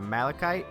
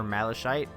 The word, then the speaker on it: malachite: just bear with me it's a malachite or malashite and we'll go with malachite sounds a little bit more formal so malachite gems